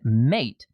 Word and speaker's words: MATE: I found Linux Mint Mate runs better in a VM for me. And yeah, that Mate. Mate. It's spelled mate, man. I know. It's mate.